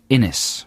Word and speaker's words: Innes: All right, this is from Scott Innes, rhymes with Guinness.